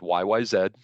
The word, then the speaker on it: YYZ: Natively pronounced YYZ in Canada.